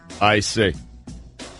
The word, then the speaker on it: Olynyk: Olynic. Clinic. Yeah, closer to colonic than Olynyk.